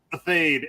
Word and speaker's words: Athayde: your last name a fade at least in the states that's how we say it okay I finally learned